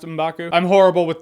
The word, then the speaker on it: M'Baku: I believe it is pronounced M'Baku.